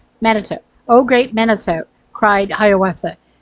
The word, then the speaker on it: Manitou: Manitou.